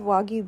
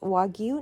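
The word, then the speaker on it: wagyu: of all we have wagu beef everywhere and it's pronounced wagu not wagu and then I looked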